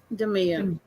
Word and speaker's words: Demia: Is it Demia or Demaya? Demia.